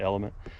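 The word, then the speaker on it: LMNT: uh element L this the letters l m n t pronounce it element it's got a lot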